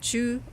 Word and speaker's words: Zhou: So we'll be looking at all of those different occasions, and also at Zhou or Zhou China. So in the older books it's spelled C-H-O-U, in the newer ones it's Z-H-O-U, same thing.